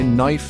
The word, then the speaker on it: knife: Ever wondered why knife has a K or debt has a B?